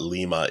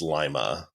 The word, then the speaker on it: Lima: It's not Lima, it's Lima. Right.